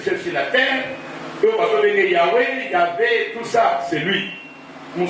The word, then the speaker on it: Yahvé: Yahvé, c'est-à-dire Y-A-H-V-E. Y-A-H-V-E. et Yahvé. Mais ça c'est la prononciation.